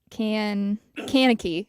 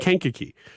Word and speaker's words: Kankakee: Kankakee County Illinois wow you've just seen it written haven't you yeah that's why you pronounce that can kaneki it's how I would say it Kankakee uh Sheriff Jack Campbell